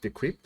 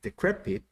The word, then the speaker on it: decrepit: we use the word decrepit and actually i mispronounced this word i said the crypt which is not the crypt it's decrepit which is something that is very old then